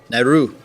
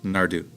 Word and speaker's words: Naru: It sounds like they roll that R a little bit. That's the sound, is that follow-up D. Okay. Okay. Gotcha. So Nardu.